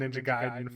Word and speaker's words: Ninja Gaiden: So So it changes every time he talks about well, I'm gonna try to stick with Ninja Gaiden for the future for Okay. any purists. I believe that is the canonical pronunciation.